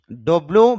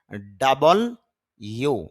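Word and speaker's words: W: ডব্লিউ বা ডাব্লিউ এটা হয় না, শুদ্ধ উচ্চারণ হবে ডাবল ইউ মানে ওয়া সাউন্ড হয়।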